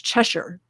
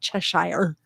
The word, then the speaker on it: Cheshire: I try to say Cheshire, but I actually have British relatives that live in a little town called Bolton, and it's Cheshire, not Cheshire.